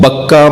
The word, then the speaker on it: بکہ: گیا، للذی ببکہ، وہ بکہ میں یعنی مکہ میں ہے. بکہ مکہ، مکے کا دوسرا نام، مکے کا دوسرا تلفظ بکہ ہے.